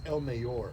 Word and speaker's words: El Mayor: It's El Mayor. Mayor. El Mayor. Come on, let's go. Burps. El Mayor. You get the El Mayor.